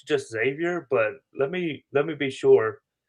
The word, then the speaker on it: Xavier: One point of order, though, I do have to help you out here, Steven, is it's just Xavier. There, you don't pronounce the X.